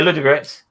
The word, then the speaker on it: Ludogorets: Braga won against Ludo Goretz. Is that how you pronounce that name? Yeah, Ludogorets.